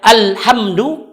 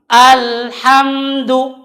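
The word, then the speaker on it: الحمد: mengalir dan tertahannya suara tidak boleh dibaca al-hamdu jadi lansida dengan tidak mengalir atau tidak boleh juga membaca dengan Alhamdulillah salat tetapi dibaca dengan al-hamdu jadi sedikit mengalir alhamdu lillahi tnah Kalau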